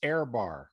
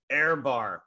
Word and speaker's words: Ehrbar: you say it first oh you're the air it's airbar airbar Greg uh if you're